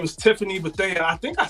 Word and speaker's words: Bethea: I say Bethea. Most people who spell it this way say Bethea. It's fine. Bethea.